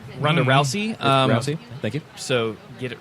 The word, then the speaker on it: Rousey: Is that how you pronounce her last name? Ronda Rousey. Rousey.